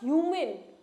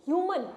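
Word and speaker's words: humane: इसको प्रोनाउंस आप ह्यूमन। ह्यूमन भी कर सकते हैं।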